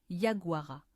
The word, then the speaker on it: yaguara: Dans la langue toupie guarani, il se prononce Yaguara et ce mot ne signifie pas simplement prédateur ou bête.